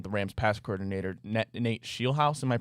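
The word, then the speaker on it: Scheelhaase: also we've mentioned the Rams pass coordinator Nate Shield House. Am I pronouncing that right, Nick? Is it Shield House? It's It is Shield House.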